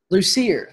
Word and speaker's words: Lussier: Lussier. Lussier.